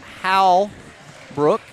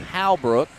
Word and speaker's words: Halbrook: So, uh, now, coach, uh, How Brook, I always want to say it wrong. Halbrook has, uh, called up some of those freshman.